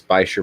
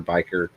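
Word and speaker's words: bichir: spell that uh b-i-c-h-i-r and it's pronounced 27 different ways by sure bicker biker bashir oh yeah those are pretty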